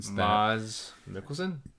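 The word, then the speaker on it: Mads Mikkelsen: learned how to say his name apparently in MZ Mickelson M yeah I didn't know he was in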